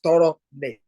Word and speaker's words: Toronet: And that bridge currency is, if I pronounce it the West African way, is Toro net.